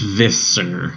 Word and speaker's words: Visser: You said Visser with like a Z sound. How do you say it? It's viscer. Is Visser. Yeah, because I say Visser. Visser. Yeah, it's because there's two S's.